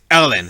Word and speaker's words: ln: welcome to math so it's going to be Ln is because it's French or swiss or something European that I can't pronounce anyway it's Ellen so when you look